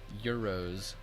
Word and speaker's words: Gyros: though sounds good man Gyros are pretty good Euros damn I'm stupid is that really how that's pronounced I'm stupid if I've been